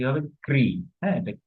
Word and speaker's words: কৃ: এটা উচ্চারণ কি হবে? ক্রি। হ্যাঁ, এটা ক্রি উচ্চারণ হবে, ক্রি।